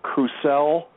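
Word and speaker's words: Crucell: by a laboratory that's called crew cell and that's spelled c-r-u-c-e-l-l and if you put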